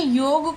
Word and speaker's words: योग: तो योग को योगा कहना एक ध्वनि विकार का संकेत है, क्योंकि मूल शब्द जो है वो योगा है। इस योगा के उच्चारण में परिवर्तन हुआ अंग्रेजी प्रभाव या अन्य कारणों से, तो ध्वनि विकार की श्रेणी में आता है, क्योंकि मूल शब्द योग ही है।